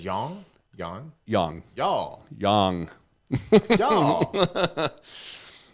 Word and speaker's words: yang: It's yang is how you pronounce it.